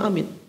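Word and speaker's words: آمين: Amin. Jadi a-nya itu mad badan, dibaca 2 harokat. Amin. Minnya mad arid lisukun, dibaca sampai 6 harokat. 6 harokat atau 3 alif.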